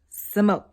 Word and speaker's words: Samoht: real name is thomas his stage name is thomas backwards samoa so give me some more sumo the t is silent um so i'm gonna